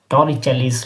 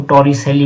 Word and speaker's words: Torricelli: है टॉरी चलीस लॉ हालाकि हम भारतीय स्कूलों में इसको टोरी सेली भी इसको प्रोनाउंस करते हैं लेकिन अगर इटालियन भाषा में इसको कहे क्योंकि इटली से बिलोंग करते हैं इनका पूरा नाम था नाम था इंजेस्ट टोरी चली तो टरी चली के